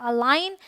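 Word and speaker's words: align: यह है gift ऑलराइट rule number two says अगर जी के बाद एन आए तो जी साइलेंट होगा ठीक है तो जी के बाद ए आए तो आंख बंद करके आप समझ लें कि वहां पर आपका जी साइलेंट है यह है अलाइन यह है साइन यह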